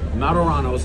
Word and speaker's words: Martorano's: We're at Martorano's. Did I pronounce it right? Yes, Martorano's.